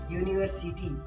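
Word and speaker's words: university: Pronunciation के आधार पर इसका य आ रहा है तो यहाँ पे ए का यूज करेंगे।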